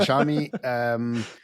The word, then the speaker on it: Xiaomi: So the mundane work around factory work being taken away, and Xiaomi, it's pronounced Xiaomi.